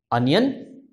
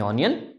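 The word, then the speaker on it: onion: ठीक है, तो एक बार फिर देख लेते हैं, रेस्टोरेंट जो हमारा पहला वर्ड है, अनियन ना कि ऑनियन, आला कार्ट मेन्यू ना कि आला कार्टे और समथिंग एल्स, आला कार्ट, पिज्जा हैलापीनो चीज डिप, मोहितो एंड डिजर्ट्स।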